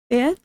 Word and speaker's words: ved: Restauranten ligger ved ved. Drop the D at the end of the word.